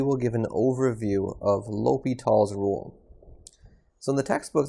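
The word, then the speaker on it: L'Hôpital: to introduce this rule which seems like it might be pronounced based off of the way it's spelled the hospitals but l'hopital's is a french name so it's pronounced l'hopital's l'hopitals so we're going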